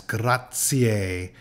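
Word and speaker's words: grazie: extra syllable graier graier the letter Z is usually pronounced like TS graier graier so the word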